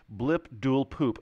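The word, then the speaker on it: Blibdoolpoolp: Series right we call it blip duel poop blip duel poop hey we got that one right well it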